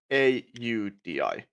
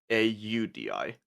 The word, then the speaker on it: Aldi: I hear dad say A UDI. That's is how we speak. Okay. So, the carburetor is A UI. A Audi. And then you got the shop. A LDI is Audi.